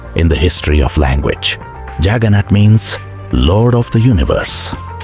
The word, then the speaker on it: Jagannath: The English word juggernaut is a mispronunciation of Jagannath, and the story of